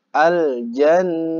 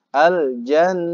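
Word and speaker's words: الجنة: Jadi intinya kalau ada mim tasydid dan juga nun tasydid itu bacanya harus dengung alias ditahan lebih lama.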